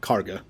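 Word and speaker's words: Kagha: It's spelled Kaga, but people pronounce it like Karga.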